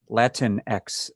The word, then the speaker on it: Latinx: But Latinx, I don't know how I'm supposed to say that.